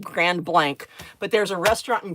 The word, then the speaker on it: Grand Blanc: And it looks like it should be pronounced Grand Blanc, but it's not. It's pronounced Grand Blank, but there's a restaurant in Grand Blank, Michigan called Crossbow.